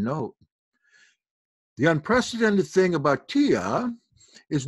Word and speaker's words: Tiye: That would be pronounced Tiye or T.